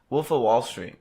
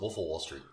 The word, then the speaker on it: The Wolf of Wall Street: a lot of everything I like the fact that nobody can pronounce that movie correctly because the wolf of Wall Street every calls it willful Wall Street well I say well because of Wall Street the wolf of Wall Street who cares but what I'm